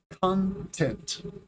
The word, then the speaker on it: content: The first word, stress the first syllable, content.